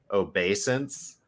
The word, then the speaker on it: obeisance: I'm more just going back to where it says where you said unfettered obedience, and it's unfettered obeisance.